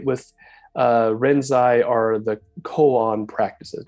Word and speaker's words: koan: uh renzai are the koan practices now sometimes you'll hear people in English say cones but that's not how you pronounce it it's brought colon uh